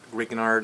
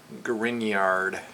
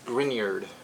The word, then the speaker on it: Grignard: don't know it's not greeknard it's grignard almost like a there's a y in there that's that's how it is pronounced grignard and so both of